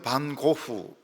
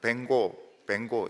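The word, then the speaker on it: Van Gogh: 반고흐, 우리는 반고흐 이렇게 부르지만 미국 사람들은 뱅고 이렇게 부릅니다. 동부교인들은 할 수 있으면 정확한 발음을 해야 되기 때문에 남들이 알아듣든지 못 듣든지 뱅고 이렇게 하시기 바랍니다.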